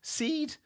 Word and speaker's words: Seid: this week it was jeff seed i mean it could be pronounced said but i doubt it is it's jeff seed i think he's one